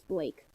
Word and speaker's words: blak: A black Oh, you you you keep Sorry, I hate to interrupt, but you kept saying black. It's Blake.